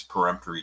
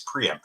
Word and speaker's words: peremptory: used all of its peremptory challenges and a some people including a dear friend of mine Jim Nan in Connecticut pronounced them to say it's preempt no it's peremptory let's get that right but a peremptory challenge